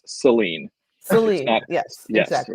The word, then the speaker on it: Saline: ahead and correct here um in Michigan it's pronounced with awah it's Seline Seline yes exactly it's not saline yes let's just the other thing about that